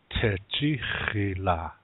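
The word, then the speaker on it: tȟečhíhila: pull it all together Teddy Sheila that's the correct way to said catchy Sheila accent usually is on the second syllable Teddy Sheila that's how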